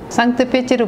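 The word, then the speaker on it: Санкт-Петербург: 로 부르게 해서 생각하고 있는 조회 선상 대사입니다 산뜻 패치로 부르고 있는 러시아 발음 인데요 여기에서는 상트페테르부르크 고 이렇게 표기를 하더라구요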